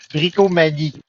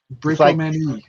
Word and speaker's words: Brickomanie: Bricomanie. Brickomanie. Many bricks. It's like maniac, but yeah, okay. But in French.